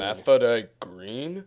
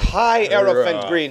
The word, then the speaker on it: Hierophant Green: Hermaphrodite Green? No, it's pronounced Hierophant Green.